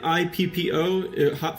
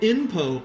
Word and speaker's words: Ippo: If you make it INPO, INPO, INPO means erectile dysfunction. So if you mispronounce this series like I did in front of Japanese people and say Hajime no INPO or like Yimpo or whatever, they'll just laugh.